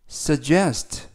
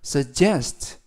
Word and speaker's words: suggest: 피해가 없었다라는 뜻이 되겠습니다 이번 표현은 sugest suggest suggest라고 발음하시면 되겠고요 이때 단어가 길어서 강세를 알려 드리면 알파벳 2의 액센트가 있습니다 그래서 suggest suggest라고 발음하시면 되겠고요 품사는